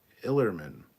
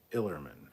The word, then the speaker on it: Ellerman: know uh ellerman says just an fyi the e is silent in my name illerman should be the way it is spelled for how it sounds illerman okay get 10k so